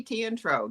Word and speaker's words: Teatro: are pronouncing it perfectly it's tea and coffee tea and tro that easy okay very good thank